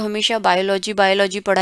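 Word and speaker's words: Biologie: तो आपको इसका अभी प्रोनाउंसिएशन पढ़ना भी बहुत ज़रूरी है कि मुझे इसको बियोलॉजी ही बोलना है, या इसको मुझे माथमाटिक बोलना है, मैथमेटिक्स नहीं, माथमाटिक। ओके, आगे बढ़ते हैं।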